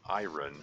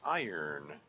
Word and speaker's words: iron: of the beginning of my life I I pronounced that word iron because that's what it looks like it should